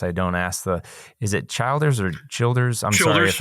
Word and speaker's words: Childers: It's spelled Childers, but it's Childers.